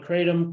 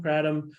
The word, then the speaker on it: kratom: we can't agree on how to pronounce this thing so we call it Kratom Kratom Kratom ketom it depends on where you are in the world uh it's all Tomatoes uh we can't even